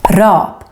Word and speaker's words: rap: up is double consonant short a is how we say the music style rap in Swedish Rob one consonant long a